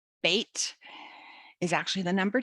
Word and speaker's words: Bet: Bait rhymes with mate, which is not, grab my little bookie here, which is not because I'm watching Australian TV. It just rhymes with mate, bait and mate.